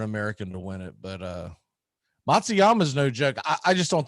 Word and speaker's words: Matsuyama: Matsuyama? Yeah, Matsuyama.